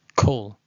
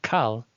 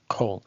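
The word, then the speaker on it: כל: considering everything, all, is kol, and sometimes it comes out with the kamatz katan. Don't make the mistake of saying kal, thinking it's a kamatz gadol, but rather it's kol.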